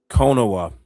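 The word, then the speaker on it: Konuwa: How do you pronounce his last name? Konowa.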